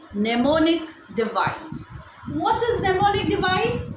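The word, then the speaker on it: mnemonic: stands for m is silent here so we pronounce it as pneumonic device okay now moving ahead let me tell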